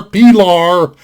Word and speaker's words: Pilar: stainless designation it's a box nas design belar p lar that's how it's pronounced and p law by the way is the name of ernest